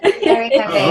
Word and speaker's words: kare-kare: Kare-kare? Kare-kare? Wow. Kare. Yes. Kare-kare.